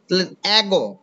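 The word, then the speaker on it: ago: এই দেখো ঠিক আছে এগো আমরা কিন্তু এটাকে বলি এটাকে আগো বলি না ঠিক আছে আমরা এটাকে কি বলি এগো ঠিক আছে এর মত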